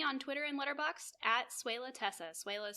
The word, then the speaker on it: Swehla: And you can find me on Twitter and Letterboxd at Suela Tessa. Suela is spelled SWEHLA.